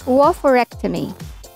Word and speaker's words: oophorectomy: Oophorectomy. Surgical procedure to remove one or both of your ovaries. Pronunciation should be oophorectomy.